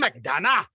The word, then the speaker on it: McDonagh: But you got to say it like this. Martin McDonagh. McDonagh?